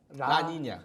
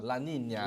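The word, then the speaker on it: La Niña: 엘니뇨 반대말 라니냐. 네, 발음 어려워요. 그죠? 라니냐. 라니냐. 네, 하여튼 스페인 말이죠. 라니냐, 스페인 말이죠.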